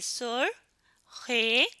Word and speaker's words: سرخ: لیے ہمیں اشاروں کی پابندی ضرور کرنی چاہیے۔ تلفظ سیکھیں۔ اب ہم کچھ لفظ پڑھیں گے۔ سین پیش رے سر خے سرخ۔ میرے ساتھ پڑھیں، سرخ۔ یہ کیا لفظ ہے؟